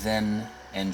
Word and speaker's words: Thena: It's like saying then and just na.